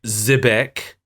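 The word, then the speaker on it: Xebec: it was made by zebec I think that's how it's pronounced it's spelled with an X okay uh who they're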